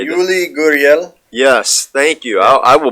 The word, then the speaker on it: Yuli Gurriel: Yuli Gurriel.